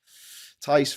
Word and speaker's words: Tice: Tice rhymes with lice.